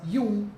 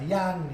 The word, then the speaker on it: Jung: Sin embargo, Jung, y se pronuncia Jung, y no se pronuncia Yang, ni Jung, porque es suizo, y por eso se dice así, Jung, como si fuera con I latina, así que el que